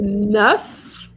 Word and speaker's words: neuf: And then the nuff as nine not as brand new the f changes into a v.